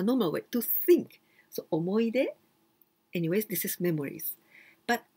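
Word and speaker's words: 思い出: pronunciation is the same omoide and the other one with hiragana like this well here it is written omohide but we pronounce omoide well i'm going to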